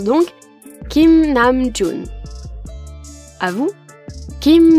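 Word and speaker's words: 김: qui comporte deux syllabes Kim Nam j deux caractères ici ont des prononciations spécifiques le premier se prononce entre le K et le G ce n'est ni un K franc ni un G franc que pour savoir si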